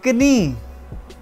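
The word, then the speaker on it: Knie: देखने में तो ये नहीं ही है, लेकिन इसमें आपने के भी प्रनाउंस करना है। दस कनी, देया से टो, पाँव की उंगली को से कहते हैं।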